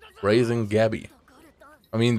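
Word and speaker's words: Gabi: by emir raising gabby i mean they call her guppy yabby which is more like the german pronunciation for that name i mean she was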